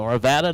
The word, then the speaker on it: Arvada: So they pronounce it the same in Colorado they do Nevada. So Arvada, Nevada, whatever.